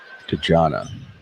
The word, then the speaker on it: Dejana: Dejana. The PA guy said it wrong, so are we right?